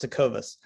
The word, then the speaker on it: Tecovas: Well, first of all, you totally nailed my last name, but the company is pronounced Tecovas.